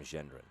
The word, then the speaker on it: Gendron: Tom Gendron soft G like gentle or I guess yeah that would be a soft G.